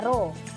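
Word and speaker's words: ρ: namanya hambat jenis pengantar simbolnya seperti ini bacanya roh yang kedua ajang penghantar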